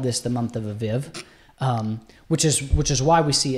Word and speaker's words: Aviv: But where do we get that word Abib from? So the Hebrew, and it's spelt A-V-I-V.